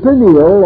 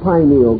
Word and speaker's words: pineal: years have passed uh the pineal or pineal gland either pronunciation is correct located in the central